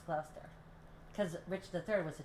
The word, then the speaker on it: Gloucester: But I think everybody was pronouncing it Gloucester or something like that. Gloucester? Yeah, I think they call it Gloucester, but it's Gloucester.